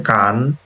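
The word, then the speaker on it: 間: তো এটার উদাহরণ রিডিং হচ্ছে কান আর আইদা হচ্ছে মেইন, আর গেন কেন বা মা দিয়ে হচ্ছে এটা বোঝানো হইতে পারে।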